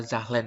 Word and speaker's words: Zahlen: Z itu adalah zahlen dibacanya ya, gitu.